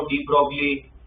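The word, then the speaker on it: de Broglie: भी सुना होगा वो डी ब्रोगली वेवलेंथ है ना वो पढ़ा होगा एटमिक स्ट्रक्चर डी ब्रोगली नहीं कहते डिब्र कहते ठीक है तो वो प्रोनंसिएशन क्या है?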